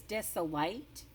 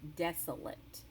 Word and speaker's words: desolate: our vocabulary word is desolate looks like it says dis alight hmm but we pronounce it a different way we pronounce it desolate and it means a